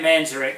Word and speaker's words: Manzarek: Now, I never get this name pronunciation right. Ray Manzarek? Ray Manzarek, yes.